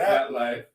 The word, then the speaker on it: ZapLyfe: You know, it's ZapLyfe.